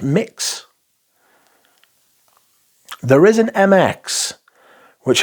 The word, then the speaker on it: Mxxx: of Eros parfum's mxx or as it's pronounced mix there is an MX